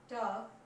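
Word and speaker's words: talk: ठीक बात क्या है कि एफ और के से पहले अगर एल आ जाए तो वो साइलेंट रहेगा, बोला नहीं जाएगा।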